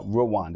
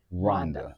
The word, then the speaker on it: Rwanda: And it's not uh Rwanda, everybody. It's Rhonda. All right. The W is silent.